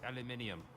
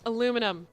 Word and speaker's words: aluminium: be you're gone so by the way it's pronounced aluminium its aluminium you heathen alright so place to leave off